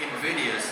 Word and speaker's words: invidious: It would be invidious, that's a good word, rhymes with Sidious, doesn't it?